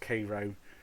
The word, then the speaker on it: Cairo: commodore wesley uh oh the town of cairo george is pronounced cairo okay yeah and he's asking